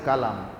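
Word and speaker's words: قلم: এখানে সূচিপত্রে লিখা আছে কালাম। আরবিতে ছোটকা দিয়ে যখন ব্যবহার হয় কালাম শব্দের অর্থ হচ্ছে বাক্য কথা। এগুলিকে কালাম বলা হয়। আর যখন বড় ক দিয়ে হয় তখন উচ্চারণটা কলম।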